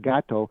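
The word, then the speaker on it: Gatto: gato like the uh or gato I guess but it's pronounced gato he was a school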